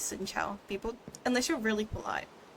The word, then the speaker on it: xin chào: How you pronounce it is like xin chào, but how you actually write it is like this.